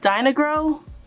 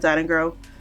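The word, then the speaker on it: Dyna-Gro: yeah the foliage pro i've been saying it right today i'm glad i filmed this video like a few times today and i said diamond girl a few times so i'm glad i said it right i'm going to slide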